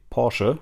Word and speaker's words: Porsche: In German we say Porsche because we pronounce the E.